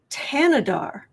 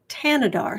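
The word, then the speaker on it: Thanedar: It's pronounced Tanadar. Really? T H A N E D A R is pronounced Tanadar. So, it's a a silent H.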